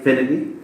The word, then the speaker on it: Finethy: And today we have Buddy Finethy.